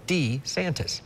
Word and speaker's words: DeSantis: little bit of question he said it's Ron de santis if you want to